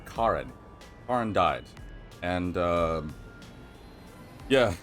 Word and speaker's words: Karen: that the main Le Karen excuse me her name is actually pronounced Karin Ken died and um